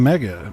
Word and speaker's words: Mega: Nintendo never had anything Mega. Well, okay, fair enough. Mega rhymes with Sega.